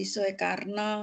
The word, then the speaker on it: Soekarno: Yang ada OE jadi U gitu loh, Dek. Kalau tulisan Soekarno jadi Soekarno kan gitu.